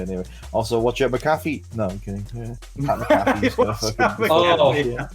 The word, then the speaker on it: McAfee: I was also entertained because half the call couldn't pronounce McAfee properly because you had McPhee and just wait, it was McAfee.